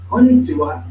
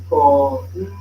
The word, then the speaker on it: こんにちは: Konnichiwa should be five syllables in the Japanese language, as in konnichiwa, or four syllables in English or in Filipino language, as in konnichiwa.